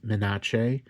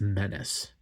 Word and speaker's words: Menace: It's a running gag in the community that people are pronouncing as Mina and I hate that. I absolutely hate it. It's menace. Say it right.